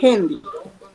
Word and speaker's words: Gendy: Buenos días, es Hendy. ¿Es? Hendy, con J. Se escribe con G, pero se pronuncia Hendy, con J.